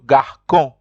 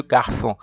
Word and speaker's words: garçon: So that accent makes the C pronounced like an S.